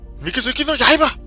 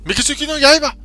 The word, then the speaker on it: Mikazuki no Yaiba: Mikazuki no Yaiba! You have to say it like that. Mikazuki no Yaiba!